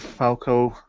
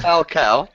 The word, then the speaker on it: Falcao: may suggest confirmation of falco i can't say his name right now falcao because if monica was